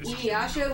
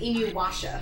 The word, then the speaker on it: Inuyasha: Headstrong has this awful habit of mispronouncing Inuyasha with Inuwasha.